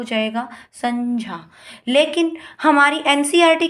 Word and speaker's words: संज्ञा: उस हिसाब से इसका जो उच्चारण स्थान होगा वो क्या हो जाएगा? संज्ञा।